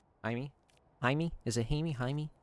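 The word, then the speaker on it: Jaime: Haimey. Haimey. Is it Hammy? Haimey. It's Jamie. Haimey. It's Haimey Reyes. Yeah. Haimey. Thank you. Jamie. It's okay. It's spelled Jamie, but it's pronounced Haimey, right?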